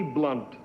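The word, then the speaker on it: Blount: His middle name happened to be Blunt. B-L-O-U-N-T, pronounced Blunt, and it's just a thing I knew.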